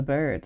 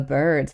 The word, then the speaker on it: Byrds: And it's like The Birds, but it's spelled with a Y instead of an I. Like instead of B I R Ds, it's B Y R Ds.